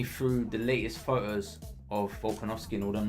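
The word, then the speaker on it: Volkanovski: actually the character model oh i didn't say it properly alright you miss it all right so this is volkanovsky on my days bro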